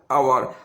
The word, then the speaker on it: hour: क्योंकि जानते हैं आवर का स्पेलिंग क्या होता है? HOUR, आवर। आवर तो भावेल से शुरू कैसे हुआ? ये भावेल साउंड से शुरू हुआ, ना कि कोई भावेल लेटर से।